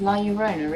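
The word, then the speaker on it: La Llorona: gonna look so cool i never pronounced that properly it's la urona isn't it like the double l is a sort of y sound in spanish i find different languages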